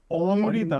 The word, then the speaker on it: অমৃতা: Exactly ওখানে একটা ছিল অমৃতা নামও ছিল ওই হ্যাঁ আমাকে তো সবাই অমৃতা বলে then I say না it's অমৃতা first A is O the second A is E বেশ পুরো অনেক মানে অনেক পুরনো।